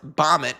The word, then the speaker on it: BOMET: So after crash landing on Earth, Bomit, which rhymes with Comet, pretty clever.